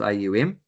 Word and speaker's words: aum: God is also uh non- different than the sound of which is made up of a three syllables aum like that.